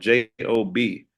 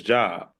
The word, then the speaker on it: Job: The book of Job is spelled Job. We know it as Job, but if you get into the biblical world, it's called Job.